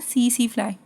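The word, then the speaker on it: tsetse: ऑफ सी C flying C C flying में इसमें T silent होता है इसको बोलते हैं सी सी फ्लाइंग यह एनसीआरटी में इसका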